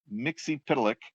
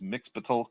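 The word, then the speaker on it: Mxyzptlk: Their take on Mr. Mixie-Pitalik, that's how I pronounce it, but I know it's sometimes it's Mix-Pitalik, but more time than not, it's Mixie-Pitalik.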